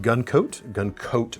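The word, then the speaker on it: Gun Kote: That finish is KG Gun Coat with a K, K-O-T-E in fact. In fact, everything about it is spelled wrong, but that's what it is.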